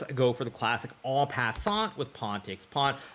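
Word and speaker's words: en passant: go for the classic all passant with pawn takes pawn. Of course I'm going to pronounce that correctly because right now we are in Canada and French is one of the main languages.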